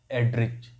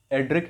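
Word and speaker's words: Erdrich: तो Louis एड्रिच, एड्रिक है, pronunciation का सही वाला एड्रिक है, पर हमको इसको याद करने का तरीका क्या है?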